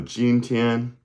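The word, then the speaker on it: jīntiān: can learn we know ginan right that's today. How do you say tomorrow friendly friends and then yesterday is So gin j i n t i a n first tone first tone m i n g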